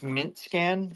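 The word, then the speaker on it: Mintscan: So you said it's Mint Scan, like MINT, like Mint Linux. Yeah, am I exactly and scan the way it's spelled dot io.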